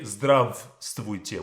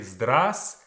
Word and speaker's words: Здравствуйте: First things first, this letter V is not pronounced. We don't say Здравствуйте. We say Здравствуйте. Okay? Здравствуйте.